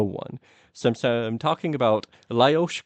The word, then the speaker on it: Lajos: He's sometimes also uh Lewis Koshoot.